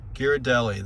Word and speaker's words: Ghirardelli: Ghirardelli. Thank you, Rocco's mom and wife, for the pronunciation.